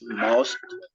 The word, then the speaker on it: month: But here, the pronunciation of this is month. Month. Like Z. Month.